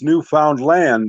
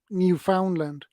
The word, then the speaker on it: Newfoundland: Some guys will tell you it's Newfoundland, understand? And other ones will tell you it's Newfoundland, and others will tell you it's Newfoundland, and some. yeah, a different pronunciation on it. So you just say it the way you want to say it, and Yeah, for me, it feels better to say Newfoundland.